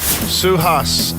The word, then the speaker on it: Suhas: Suhas out of Westlake. Have I pronounced that correctly? Yes, got it right.